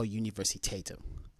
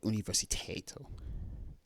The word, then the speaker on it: universitetet: På kind of makes sense, but universitetet, that pronunciation doesn't make sense because there's a T consonant at the end, yet it is pronounced as an L from what I'm hearing.